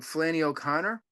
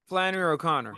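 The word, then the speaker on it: Flannery O'Connor: Flanny O' Conor. Flanner O' Conor, a classic writer, which will she'll have a more influence on Nebraska, right?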